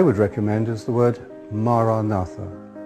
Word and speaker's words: Maranatha: If you choose that word, say it as 4 syllables: Ma, Ra, Na, Tha.